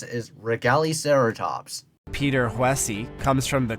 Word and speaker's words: Regaliceratops: Its scientific name, Regaliceratops. A better way to pronounce it is Regaliceratops.